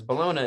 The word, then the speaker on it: bologna: I always called it My Bologna, like I said, but he says Bologna in the song because it rhymes with Sharona.